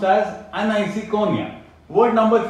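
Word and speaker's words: aniseikonia: इट is pronounced as एनिसोकॉर्निया।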